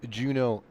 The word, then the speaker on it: Juneau: Here is Juno. I'm pretty sure I'm pronouncing that correctly.